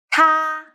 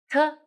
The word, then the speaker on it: 它: 它它 Remember, open your mouth. 它 Very good.